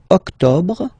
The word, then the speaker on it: octobre: Don't insist on the final E. Octobre, octobre, octobre.